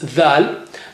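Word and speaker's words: د: Letter dal, the sound is the, but the name is dal.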